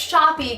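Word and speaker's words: Shoppe: called therapy shop EECOM I call them clients shoppi because it's spelled with two peas and an e at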